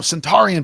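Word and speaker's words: Suntarine: No, Centaurian Perkins. That's how you say his name.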